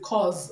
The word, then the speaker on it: cause: pronounce it C okay now the is not pronounced it's pronounced Z cause okay because you caused it okay this sound this I say is pronounced Z and not s okay please note it